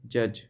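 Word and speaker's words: judge: 25, डॉट डॉट is silent letter इन जज।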